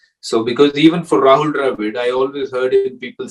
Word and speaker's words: Dravid: So because even for Rahul Dravid, I always heard people saying Rahul Dravid in Chennai. So he's not Rahul Dravid, he Rahul Dravid.